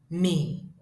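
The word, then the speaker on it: mì: This is pronounced as do, do. That is me, me.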